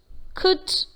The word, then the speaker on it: could: talk, half, come, should, could, would. That is, though we see the letter L in these words, there is no L sound in these words. The L sound is silent.